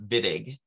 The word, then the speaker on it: Wittig: reagent i believe that that's a w that's pronounced as a v i don't know if the guy was was russian but if i'm remembering correctly i think it's vidig um german all right um i